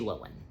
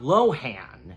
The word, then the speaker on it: Lohan: So, enough said, let us now dive into what CinemaSins has to say/sin on Freaky Friday, starring Jamie Lee Curtis and Lindsay Lohan.